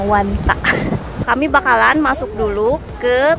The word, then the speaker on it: Wanda: Nah guys, sebelum nanti kami bakalan tour Wanda Metropolitano, katanya bukan Wanda ya, dibacanya Wanta.